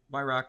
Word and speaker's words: Weyhrauch: or it's my name, Wrock, like Wrock the Boat, but it's spelled the German spelling.